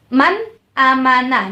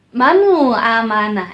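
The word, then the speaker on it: مَنْ آمَنَ: yang disebut dengan izhar bacanya Man amanah jelas ya bukannya menambah Nah itu salah atau manual amanah itu juga salah Dan dan jangan dipantulkan mana amanah mana salah tetapi Man amanah Hai Man amanah Jelaskan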